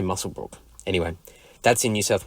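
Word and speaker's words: Muswellbrook: Next up is Warren from Musselbrook, and I always stumble over that name, even though it's written or it's spelt Muswellbrok. So I go Musselbrook. I think they say Musselbrook.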